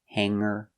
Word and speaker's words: hanger: like hang or sing No G sound examples hanger singer or if you change